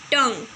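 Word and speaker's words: tongue: तो यहाँ पे टी साइलेंट था, चॉक में एल साइलेंट था, टंग में जी और यू साइलेंट था, और यहाँ पे फर्स्ट में जी साइलेंट था.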